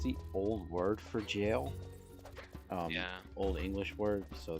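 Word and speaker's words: Gaol: and uh jail but I used to say it G and then I watched a video and they were all saying it jail and then I learned that it was the old word for jail so I was like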